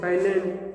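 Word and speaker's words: island: ये देखो आइलैंड्स, आइलैंड एस, इसमें एस रहता है साइलेंट।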